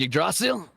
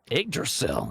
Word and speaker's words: Yggdrasil: How do you pronounce that, Lark? Oh, you mean Yggdrasil? The Tree of Life? I thought it Yes. was Yggdrasil? Yggdrasil?